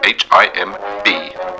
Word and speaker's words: himb: In cat lingo, some might spell it H-I-M-B. This silent B comes from the English word lamb, and the word him should be pronounced accordingly.